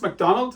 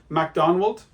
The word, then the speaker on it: Macdonwald: been a rebellion a Scottish nobleman called It's pronounced McDonald as in mackie's but it's a w in it MacDonald McDonald we learned that he has rebelled against